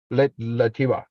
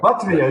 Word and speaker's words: Latvia: Yeah, sorry, if my pronunciation Lativa, right? Lativa. Latvia, yeah, Latvia, yeah, it's always Latvia.